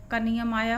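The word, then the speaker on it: comb: यहां पर फिर से आपका साइलेंट लेटर कमाया हुआ है ई एम के बाद जब भी आती है तो हम बीच को साइलेंट रखते तो यहां पर हम सिर्फ कॉम का उच्चारण करें ओं योर हेयर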